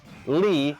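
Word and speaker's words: Lea: So he's about to get Norded, but Axel's somebody, Lee, L-E-A, pronounced L-E-E, saves...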